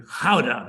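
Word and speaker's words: Gouda: from Rotterdam to to howda as it's pronounced in Netherlands and when you get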